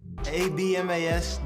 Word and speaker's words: Abmas: ABMAS, the B is silent.